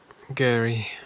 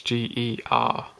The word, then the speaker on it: Geri: And then the older one, which is Gary, or Gary, we'll call him. It's not, it's Geri. Yeah, I will learn how to say these.